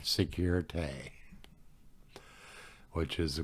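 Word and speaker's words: sécurité: May Day safety or security pronounced like the French word security which is the correct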